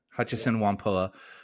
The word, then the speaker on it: Hutchison Whampoa: Your story kind of centers around a company called Hutchison Whampoa. Am I pronouncing that correctly? Hutchison Whampoa. Yeah, Hutchison Whampoa.